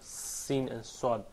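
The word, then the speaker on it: سين: And as it says here in the slides, Seen pronounced like seen, the word seen in English.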